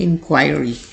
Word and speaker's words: inquiry: है वो होती है इंक्वायरी, इंक्वायरी। इन पढ़ने के बाद आपने ख्वाई पे स्ट्रेस देना है, देन री, इंक्वायरी।